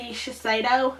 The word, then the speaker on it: Shiseido: to regular cotton pads again these are the Shiseido I'm pretty sure that's how you pronounce it facial cotton and delivers moisture with